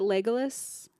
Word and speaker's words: Legolas: Also, is it Legolas?